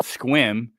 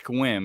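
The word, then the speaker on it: Sequim: Uh we have an area up here called Squim. I It's It looks like it's spelled sequium, sq, but it's Squim and I people are I never heard the end of that, but uh home tulips.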